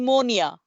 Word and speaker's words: pneumonia: is the letter with silent like the new pneumonia with silent p is silent pneumonia so same thing apnea we just